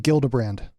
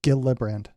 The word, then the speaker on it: Gillibrand: this and subject this article I'm trying to pronounce her name I think it's it's Kirsten gildebrand uh gildebrand yeah yeah it's Gila brand she's been working on this for a decade